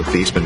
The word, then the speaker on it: Theismann: Joe Theismann was great until he had a rhyme with Heisman.